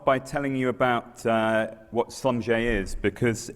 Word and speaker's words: Schlumberger: family that started it Sanjay is these two brothers Emilia and Conrad they come from the Alsace region which is why their name looks German but is pronounced in a French way and they started in